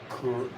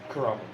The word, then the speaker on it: Kurama: But you get to see more Kuruma? Kurama? Kurama? Is that his name? Kuwabara or Kurama? Kurama.